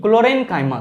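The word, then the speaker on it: chlorenchyma: ध्यान में रखेंगे, मैं फिर से कह रहा हूं, कॉलेनकाइमा नहीं, क्लोरेनकाइमा कहा जाता है। दोनों का प्रोनाउंसिएशन अलग अलग है।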